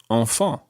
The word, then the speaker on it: enfants: And the plural of this, the word for children, sounds exactly the same, although it's got a silent S on the end. So you would say enfant Enfant.